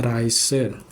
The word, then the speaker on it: Reise: Nah, tadi juga ada Reise. Karena ini EI jadinya Reise dibacanya gitu.